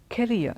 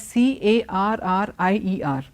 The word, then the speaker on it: career: Now this word, not only is it pronounced wrongly, it is also spelt wrongly. Most people spell the word as C-A-R-R-I-E-R, and they also say it carrier. It's not carrier. Carrier is a completely different word. Career.